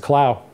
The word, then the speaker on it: Clough: So yeah, I'm aware that it's Clough. A lot of people do pronounce it that way, but we pronounce it Clough. Back as far as I know, and I don't really know why.